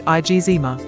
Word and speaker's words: eczema: daughter of a dermatologist I grew up hearing my father pronounce it IG zma he grew up in